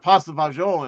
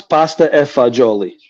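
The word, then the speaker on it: pasta e fagioli: i didn't even have pasta bonjour in there oh wait wait first off first off let me correct you it's possible let me correct you it's pasta effect jolie all right let's get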